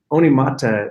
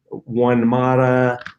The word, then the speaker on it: Onemata: read it to them and everybody mispronounced it you know one mata one maida all kinds of you know things we thought well